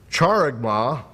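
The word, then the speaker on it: χάραγμα: way comes from the Greek word that is charagma and I'll spell it for you it's ch a r a g m a charagma and it means a scratch or an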